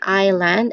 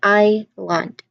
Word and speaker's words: island: This one's a bit sneaky because in just in the second that second letter, that s is just completely silent. That hiss there, it's completely silent. You can just really say island as in IEYE, and then land LAN.